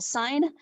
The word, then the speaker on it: sine: between the angle and the sides are called sine cosine and tangent now they're abbreviated this way